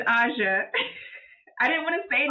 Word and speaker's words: Aja: stop you right there so do you pronounce your name AA or you pronounce it it's AA I didn't want to